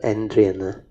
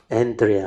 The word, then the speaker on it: Andrea: She is Sister Andrian. Oh, not Andrian. Andrea.